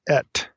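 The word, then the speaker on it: את: It's pronounced et, so it's aleph tav, et.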